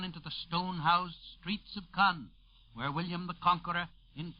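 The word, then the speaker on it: Caen: 40 Mi Northwest of k k by the way is spelled CA n it is near e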